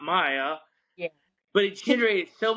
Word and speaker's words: Mia: one of the characters is m i a Maya right so I pron I made my wife pronounce Mia so the backstory of that is is yeah